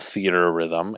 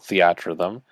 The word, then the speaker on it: Theatrhythm: It is not called Theater Rhythm. It is called Theatrhythm.